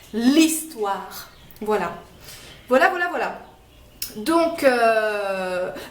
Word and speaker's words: histoire: consonne h effectivement mais le h au début d'un mot souvent en français ne se prononce pas c'est ce qu'on appelle